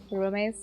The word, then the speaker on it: Roomys: It's spelt like roomies. But like room... Y-S. Room ace. Roomies.